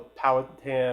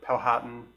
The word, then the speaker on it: Powhatan: around there called the Powhatan or Powhatan depending on how you like to pronounce it and it's gonna be